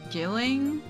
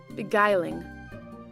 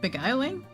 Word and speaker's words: beguiling: Your innocence was uh beilling. I I forgot how to pronounce that word but me. Hey Google. Beguiling. Beguiling.